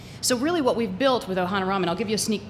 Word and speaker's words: Ohanarama: legs so so really what we've built with ohana ramen i'll give you a sneak peek into some